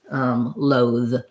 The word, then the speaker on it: loathe: maybe breathe, breathe and loathe. So when I see that THE at the end, it's often going to be my voiced TH sound.